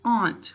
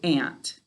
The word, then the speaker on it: aunt: aunt all right now this is often a two-way word i pronounce it so it's not a two-way word but people often say ant all right so if